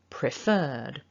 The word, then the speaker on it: preferred: Now the second syllable is the stressed syllable.